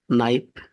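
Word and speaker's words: knife: silent letter বলা হয় নাইফ এখানে কে সাইলেন্ট রাইট এখানে ডব সাইলেন্ট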